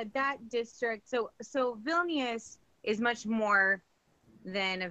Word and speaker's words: Vilnius: How do you pronounce Vilnius? Vilnius? Vilnius.